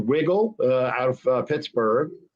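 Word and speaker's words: Wigle: wolf a company called wiggle out of pittsburgh w-i-g-l-e but it's pronounced wiggle and dad's hat just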